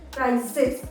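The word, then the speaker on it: prizes: तो हम जब एस लगाते हैं तो हम इसको प्रोनाउंस करेंगे प्राइजेस, प्राइजेस।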